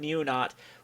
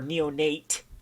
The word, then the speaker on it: Insolent Neonate: And the combination I really want to do for this particular deck is going to be the Insolent Neonaut, or Neonate.